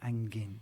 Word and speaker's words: angin': And you you tend to kind of really do the and the G. So angin.